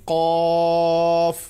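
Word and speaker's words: ق: থাকে তাহলে সেটার অর্থ উচ্চারণ হবে ক একটু মোটা করে বলতে হবে ক ত এর মত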